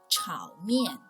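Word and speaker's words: 炒面: is stir-fried noodles which in chinese ping in is pronounced as ciao mian ciao and here mien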